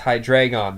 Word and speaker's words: Hydreigon: of death called hydreigon yes that's right it's high drag on the god of death